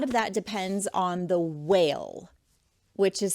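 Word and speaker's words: wale: Um, a lot of that depends on the whale, which is spelled W A L E whale, the whale count.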